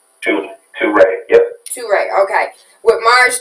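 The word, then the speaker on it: Touré: Toure, yep.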